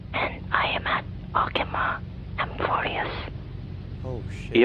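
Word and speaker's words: Amphoreus: You say A M F O R E U S. Did I get that right? That's not how you spell it. Uh, no. A M P H. Okay. A M P H orius.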